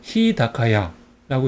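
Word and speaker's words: 日高屋: 훈독 야하고 있습니다 그래서 히 타카야인데 타카는 앞에이 앞에 단어의 영향을 받아 가지고 타그마 되었습니다 그래서 히다카야라고 있습니다 한번 읽어 볼까요 히다카야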